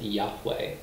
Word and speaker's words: Yahweh: consonants and Ebru and we usually pronounce it in English as Yahweh but occasionally only the